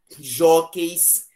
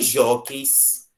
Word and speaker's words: jóqueis: Em jóqueis, a letra U, olha, atenção, não é uma vogal. É uma letra muda. Você pode perceber pela pronúncia que na palavra jóqueis você não tem pronúncia do U.